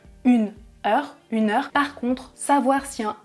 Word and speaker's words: heure: En français, je précise, on ne prononce pas le H dans le mot, par exemple une heure.